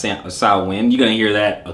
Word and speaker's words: Samhain: about definite possible pagan roots particularly the gaelic salwin all right it looks like samhain but sauwan pronounced salwin you're gonna hear that a couple of times